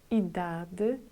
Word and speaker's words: idade: I pronunciate letter E with a sound between letter E and Y. Nacionalidade. Idade. As you could hear, I didn't say open E letter.